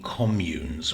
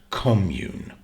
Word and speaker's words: commune: it in this way you stress the first syllable commune but it's also a verb to commune and now we stress the second syllable and as a verb